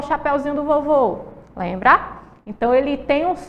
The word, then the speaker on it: vovô: vô vô vô escuta o som do ó ele deu uma fechadinho ó vovó vovô tem um som aí mais fechado certo então encontro enquanto